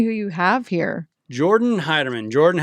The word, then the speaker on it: Heiderman: I don't really care how you say it, but Heiderman, yeah.